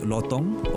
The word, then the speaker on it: lutong: are also known as the Silvery lutong pronounced lotong or silvered Leaf monkey